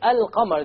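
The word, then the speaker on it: القمر: However, when I say Al-Qamar, the Arabic word for moon, can you hear the lam? Yes.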